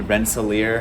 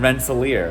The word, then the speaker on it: Rensselaer: is actually not in albany it's called albany rensselaer that's how you pronounce it it's in rensselaer and that's how you pronounce it so that's